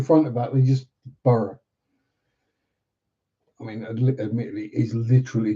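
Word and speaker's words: Burgh: Heck, we even got a place just just called Burough. B U R G H. They didn't give it anything in front of that. They just Burough.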